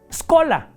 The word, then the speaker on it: schola: La palabra chola se escribe con che, schola. Pero la che suena como c. Entonces, ¿cómo se pronuncia? Esola.